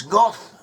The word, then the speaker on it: Gad: Gad in Hebrew may be pronounced as "Goth."